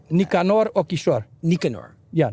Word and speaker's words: Nicanor: Nicanor and first of all i am i pronouncing his name correctly Nicanor or kishore Nicanor yeah Nicanor okay sure we call him nickname Norrell Narelle